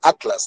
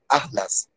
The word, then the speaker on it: Atlas: Pero los españoles pronuncian diferente, separan la TL, pronuncian así más o menos la palabra Atlas, dicen Atlas, Atlas, por el ceseo, por los españoles que son, por esa razón, ¿no?